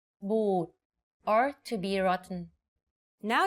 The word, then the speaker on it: บูด: A word can have different meanings depending on if the vowel sound is pronounced long or short. For example, ติ and ตี The first word ติ with the shorter sound means to criticize. If you say it a bit longer, ตี it means to hit. Another example is บุตร or offsprings, and บูด or to be rotten.